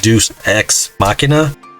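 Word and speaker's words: deus ex machina: i can say deuce i think it's pronounced like deuce ex machina and so i don't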